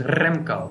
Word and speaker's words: Remco: And by the way, should I be rolling my R when I say it, like Remco? Yeah, you could roll your R. It is Remco.